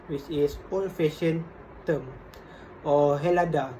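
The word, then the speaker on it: Ελλάδα: Greeks themselves most commonly refer to the name as Hellas, which is old-fashioned term, or Hellada, pronounced with a silent H.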